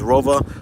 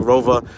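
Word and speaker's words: ROWE: I know they're German. That's how they pronounce it. I know it doesn't sound like Rova, but it's Rova.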